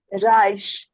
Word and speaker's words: Reich: So pronounce it Reich.